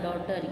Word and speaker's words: daughter: Then डॉटर, डॉटर यानी बेटी, DAUGHTER डॉटर. यहाँ पे जी साइलेंट है तो आप बोलेंगे डॉटर, DAUTER डॉटर.